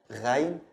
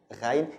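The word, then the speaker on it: غين: above, but ghain is pronounced like the French R, gha, ghain, ghain. It's not from the beginning of your tongue, actually it's from the end of your tongue. Okay, so it's ghain.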